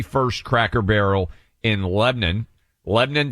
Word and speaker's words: Lebanon: Lebanon, Tennessee. Uh spelled like Lebanon.